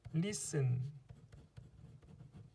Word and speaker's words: listen: 그 다음에 흔히 잘하는 거 listen 얘도 T가 소리가 안 나죠. listen listen 아니고요.